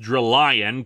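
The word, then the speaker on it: Drillion: bodyguard rlly on and really it should be pronounced drill lion considering you know lion and drills but whatever during the fight a deflected blast from drill ian almost sends Vieira to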